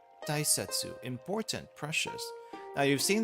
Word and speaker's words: 大切: You use it in big, and it's pronounced as o. Sometimes it's also pronounced as dai, as in important, or I guess in this case tai.